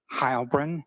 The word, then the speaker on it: Heilbrun: My name is Hybrin. That's spelled and then H E I L B R U N.